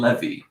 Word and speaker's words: Levy: Okay, Dan Levy. Okay, I'll say it right. Dan Levy. Levy. Like a levy, like to hold the water back.